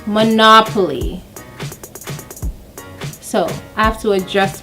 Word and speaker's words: Monopoly: We're Jamaicans, we say Monopoly. Yeah? Okay, I was corrected. So it's not Monopoly but Monopoly.